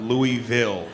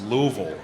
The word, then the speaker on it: Louisville: It's definitely not Louisville. It's Louisville. I learned that the hard way.